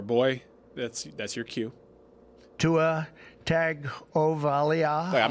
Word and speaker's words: Tagovailoa: Tua Tagovailoa. There's no N, but everybody says N, but there's no N.